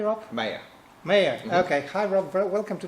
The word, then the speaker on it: Maher: different format because we have a guest Rob Maha did i pronounce her name correctly Rob mayor mayor okay hi welcome to the dr answers